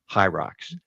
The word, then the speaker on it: Hyrox: Uh Hyrox, it's spelled H Y R O X. Hierrox. Uh hi is uh uh for hybrid.